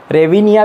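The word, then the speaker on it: hryvnia: सो Ukraine की currency unique है, तो ये देख लो, यूक्रेनियन और हायरिविनिया. ओके, सो इसका जो प्रोनाउंसिएशन है आप देख सकते हो. ओके, इसे सिंपली रेविनिया भी कहते हैं.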